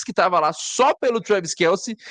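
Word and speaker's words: Travis Kelce: tava lá só pelo Travis Kelsey e eles sequer sabiam pronunciar o nome do Travis Kels. Tinha um cara tava chamando ele de Travis Kills.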